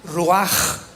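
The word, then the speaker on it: רוח: palabra espíritu en hebreo es ruach con r de Raúl y ch se pronuncia ruaj raj el kados el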